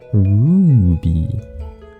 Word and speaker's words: Ruby: It's Ruby. You gotta say it with the roo. Like, aroo. Aroo.